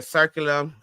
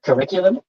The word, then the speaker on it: curriculum: So now I'm going to talk about your circulum. I can't even never pronounce this word. You know what I'm talking about, right? Curriculum.